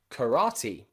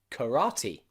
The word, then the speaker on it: karate: borrowed from another language so we put the e at the end as a e e sound okay practice again karaoke karaoke and karate karate okay so let's try